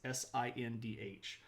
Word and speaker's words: Sindh: It's Sindh.